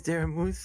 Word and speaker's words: Daramouthe: My name is Daramouthe, or Dara for short, because the unfortunate side